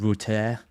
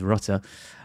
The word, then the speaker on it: Rutter: And then I've got Jinho Router or Rutter as I learned is actually pronounced pronounced. I stop trying to give him some weird French like tinge. It is is Rutter.